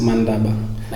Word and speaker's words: Mandaba: So the B is pronounced as Va. You know, if you know Ndebele. Yeah. His pronunciation is Va. Okay. So we got a Ndebele guy here. So to a lot of Shona people, they have a tendency to pronounce it as Va, but actually it's Ba.